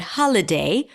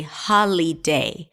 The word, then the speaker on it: holiday: Now, notice that I didn't say holly because the middle vowel is awah sound. So, I reduced the vowel there to awah.